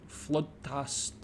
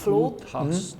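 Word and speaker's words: flodhäst: This one, flodhast. Very good. Ooh. Flodhast. Flodhast. The O is pronounced ooh, like very flodhast.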